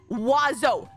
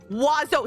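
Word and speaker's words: oiseau: O i s e au. You know want to know how it's pronounced? Wazo. None of those letters are pronounced.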